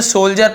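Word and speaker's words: soldier: तो साहस पैदा करने के लिए इन द सोल्जर, इसे सोल्जर पढ़ेंगे, डी को नहीं पर सोल्जर, ऐसे सोल्जर, ठीक है।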